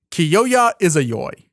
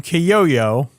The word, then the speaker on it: Kyoya Izayoi: in the film but the most consistent pronunciation of his name is Kyoya is a yaoi kyoya izayoi Kyoya is a y-yeah Kyoya izayoi some people call him que yo yo but they're just bullying him we go to his